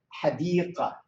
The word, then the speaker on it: حديقة: You can hear حديقة. I don't say this is the spoken language. We don't put anything حديقة جميلة. So although it is ta مربوطة, but we don't pronounce it as ta when we write it.